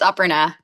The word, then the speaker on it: Aparna: Aparna, am I pronouncing that correctly? Okay. Yeah, it's Aparna.